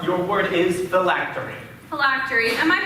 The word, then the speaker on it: phylactery: country miss park your word is the lactory phylactery am i pronouncing that correctly yes thank you may i